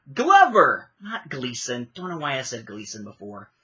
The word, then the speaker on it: Donald Glover: be that for me say it right Gleason Glover I don't know why I'm saying Gleason Glover Donald Glover as Lando see I haven't cared enough to even pay attention to the names it took me basically until last night to try to figure out how to say Ehrenreich and I'm still maybe saying it wrong it hasn't done it anyway Glover not Gleason Turner is a Gleason